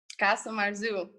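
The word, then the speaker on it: casu marzu: Now, when I butcher the pronunciation of this, you can correct me. Casa Marzu? Casa Marzu.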